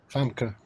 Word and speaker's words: Famke: Famke.